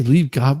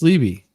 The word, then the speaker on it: Liebegott: You can say Lieb Gott, but I'm saying it's Libby. It's J. Liebegott. It's Libby. Well, that's how I say it.